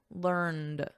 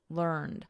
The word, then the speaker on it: learned: And then in American, learned with a soft D, learned.